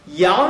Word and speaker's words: 羊: 最重要的，羊的这个发音就是阴阳那个阳，连他的